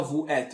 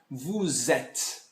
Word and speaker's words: vous êtes: Tá errado, assim, não se fala vous êtes. Eu tenho que fazer a ligação. Então fica vous êtes.